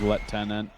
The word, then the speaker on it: lieutenant: Yeah, the British pronunciation is Lieutenant.